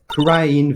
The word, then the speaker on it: Kurain: June 20th, Kurain Village. That's how it's pronounced.